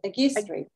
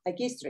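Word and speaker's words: Αγκίστρι: Agistri. Like Genio, Agistri.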